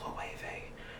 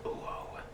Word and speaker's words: Loewe: I had a nice lady at the Real say it was pronounced Loewe and not Uo, like I was pronouncing it before.